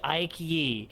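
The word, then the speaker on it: Aike Yee: Like Ike, but you want to be fancy with it, so you put another letter on.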